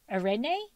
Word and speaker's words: Areni: Arenie?